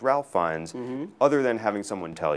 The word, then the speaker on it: Fiennes: Because to read, for example, Ralph Fiennes, there's no way to know that his name isn't pronounced Ralph Fiennes other than having someone tell you.